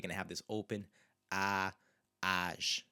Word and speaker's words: às: So às 2 horas, and you can hear there again, it's an open sound, às 2 horas.